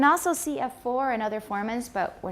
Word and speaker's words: formant: In terms of their, Formant frequency. right? Okay, format, remember it's a schwa in the second syllable.